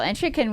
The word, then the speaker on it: Entrikin: 2024 Cocodona 250, Entrikin, with us. Am I pronouncing it correctly? You did pronounce it correctly.